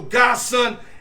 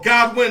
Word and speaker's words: Godwin: I mean, these guys, you know, Godson or Godwin, let me say it correctly, these guys are deep.